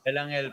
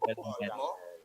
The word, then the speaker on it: Belangel: Belangel po. Belangel. Angel. Yes po, with the silent E.